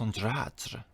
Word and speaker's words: Andrade: It's spelled the same way as Andrade, but it's Andrade.